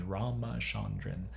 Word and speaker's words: Ramachandran: to go to YouTube, search Ramachandran, spelled like it sounds, Ramachandran, and phantom limb, and